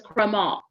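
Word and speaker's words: crémant: are referred to as crema the t is silent chromol they're not from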